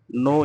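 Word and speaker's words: know: नो यहाँ के silent है, लेकिन लिखते हैं, पढ़ते जरूर हैं।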